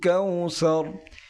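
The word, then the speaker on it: كوثر: কাউসার এখানে যে আইনটি রয়েছে আইনটি গলার ভিতর থেকে একটু চাপ দিয়ে উচ্চারণ করতে হবে।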